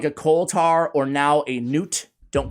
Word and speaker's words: Newt: I looked at how they said it, and they said Newt, like N-E-W-T, right?